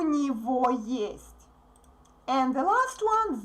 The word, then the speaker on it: него: Memorize this correct pronunciation. У него. We write go, but we say во.